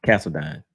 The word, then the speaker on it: Castledine: money bass and castle I keep pronouncing his right name wrong Castle castledine uh yeah so if you